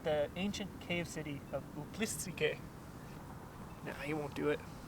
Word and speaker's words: Uplistsikhe: I just forgot how to pronounce this place. Uplist. Uplistsikhe.